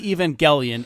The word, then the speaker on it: Evangelion: How the fuck does Robin Williams not know how to pronounce Evangelion? They say Evangelion in the fucking show.